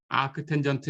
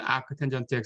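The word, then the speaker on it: 아크탄젠트: 어떻게 표기하든 이렇게 표기하든 이렇게 표기하든 아크 텐전트 x, 아크 텐전트 x라고 읽는다.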